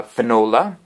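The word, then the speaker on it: Fionnuala: pronounce these names correctly yeah that's the actual pronunciation uh Finola nakhra and con in anyways for many years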